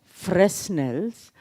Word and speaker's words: Fresnel: They are spelt Fresnels, but they are pronounced as Fresnels.